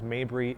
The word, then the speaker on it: Mabry: Last name is Mabry, Mab as in boy, Rey.